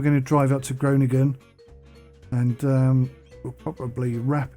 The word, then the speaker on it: Groningen: and then it's a long drive up to groningen that's how you pronounce it and that's pretty much it i